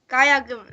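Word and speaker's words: 가야금: Gayugum? How do you say Gayagum. that? Gayagum.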